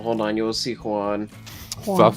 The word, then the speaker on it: Juan: Well, hold on, you will see Juan. Stop saying it like that. Juan. The thing that triggers me most when people say Juan is when they say Juan. Like it's just pronounced W-A-N.